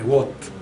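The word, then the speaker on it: Watt: Wat che cosa io lo chiamo Wat Scusatemi per la pronuncia ma in realtà si dovrebbe chiamare What però poiché tutti voi non hanno mai mai chiamato il b What diciamo continueremo a chiamarlo Wat per evitare confusioni ma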